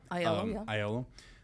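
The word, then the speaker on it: Aiello: What how do you pronounce his name? Yep. Ayolo.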